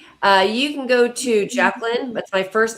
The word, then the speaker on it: Jaclyn: Thank you, Jacqueline.